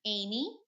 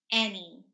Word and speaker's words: any: is tree tree okay any any Not Annie any okay carrots also not